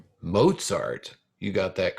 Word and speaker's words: Mozart: it if you said mozart you got that correct it rhymes with pop tart kinda wolf gang amadeus